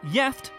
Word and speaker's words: gift: as the english is gift but it's pronounced yeft and has two separate